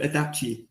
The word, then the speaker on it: IDACI: asked the most um it's called adachi adaption Motorsport um so